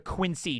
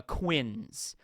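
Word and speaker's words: quince: way it's pronounced uh quins you know like uh kind of like rhymes with like Prince a little bit there and uh that's how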